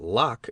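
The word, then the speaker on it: Locke: I did not know that lock is pronounced in only one syllable till many years after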